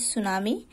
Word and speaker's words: tsunami: Tsunami means, see here, अच्छा, pronounced as tsunami, an unusually large sea wave produced by an earthquake, है ना।